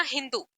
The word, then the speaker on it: हिंदू: यूज हो रहा है सिंधु को पर्शियन लोगों ने शुरू किया बोलना हिंदू क्योंकि वो स को ह प्रोनाउंस करते थे फिर हिंदू से क्या